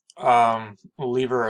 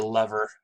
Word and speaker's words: lever: I apologize for that a lever is believer or lever you're welcome to use either pronunciation it is just a